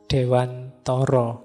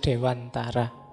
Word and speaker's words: Dewantara: Ki Hajar Dewantara ndak apa-apa monggo saja. Yang penting yang dimaksud yo beliau. Baik Ki Hajar Dewantoro atau Dewantara. Meskipun ini dialeknya yo harusnya dialek Jawa.